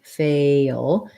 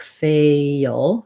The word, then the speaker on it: fail: fail your tough word so failure we have first syllable stress we want to have our tense a sound fail and then this l is a dark l so we kind of have a schwa before it like fail fail and then this